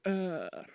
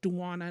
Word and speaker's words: Duana: speak up and say, my name's Duana, not Duana, not Diana, Deanna, Dana.